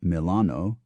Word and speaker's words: Milano: not Venice but Venia not Milan but Milano not Genoa but Genova